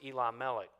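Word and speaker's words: Elimelech: means king so really if you want to slow it down and pronounce it in two syllables you could pronounce it Eli melik which would be my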